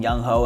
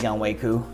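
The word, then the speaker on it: Younghoe Koo: I'm sure all of his teammates call him Young Ho, and he just accepts it. So I wish that was it, but for me, if I'm providing you guys accurate information, I want to pronounce the name right. So it is Young Wei Koo.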